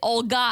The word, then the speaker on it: Olha: It's also, you can also say Olga and spell it with a G, but Olha is a unique Ukrainian name.